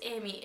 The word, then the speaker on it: Aimee: start off simply and my name is Amy it is spelled different to the traditional spelling but it is spelled the French Way which means beloved so